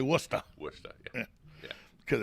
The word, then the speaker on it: Worcester: oh it's worcester mass yeah no stuff yeah it's spelled worcester but they say worcester what's that yeah yeah because they don't know